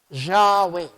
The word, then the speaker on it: Yahweh: La forma correcta de pronunciar, la forma de escuchar esas 4 consonantes, lo más parecido era pronunciar Yahweh o Yahweh.